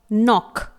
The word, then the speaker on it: knock: Example देखेंगे तो जी पहला वर्ड आपके सामने है नॉक, KNOCK। यहां पर N से पहले K लेटर आया हुआ है जो कि रेड कलर का है, साइलेंट रखा गया है।